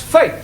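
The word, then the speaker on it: fête: For example, F-E-T-E is also pronounced fate.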